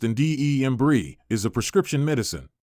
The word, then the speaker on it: Andembry: An embry pronounced indebrie is a prescription medicine.